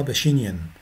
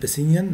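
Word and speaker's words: Pacinian: الاسماء طبعا عشان في ناس بتقراها باشينيان، في ناس بتقراها مشنر، ماشي؟ وعلى فكره في ناس بتنطقها في النت مشنر، تمام؟ فمشنر وباشينيان الاثنين بيتنطقوا في النت كده، بس احنا طبعا طول عمرنا بينطقوهم ميزنرز وباسينيان، بالذات باسينيان ما تنفعش باشينيان خالص. يعني ميزنرز ممكن في ناس بتقولها مشنر ماشي، لكن باسينيان ما تنفعش باشينيان دي خالص.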